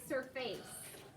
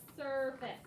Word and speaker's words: surface: cold all right surface it looks like it should be surface because that looks like the word face but that's not how we pronounce this word it's surface now what does that